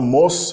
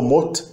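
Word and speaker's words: 못: Pode ser pronunciado mos antes de vogal ou mot antes de consoante.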